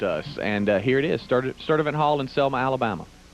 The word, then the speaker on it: Sturdivant: It's some hard-to-pronounce place in Selma, Alabama. Where is it? Rick, it's Sturdivant. Sturdivant Hall in Selma, Alabama.